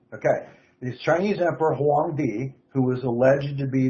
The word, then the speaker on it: Huangdi: And the Chinese emperor, pronounce it, dear. It's Huangdi. Huangdi. Okay. The Chinese emperor Huangdi, who was alleged to be the founder of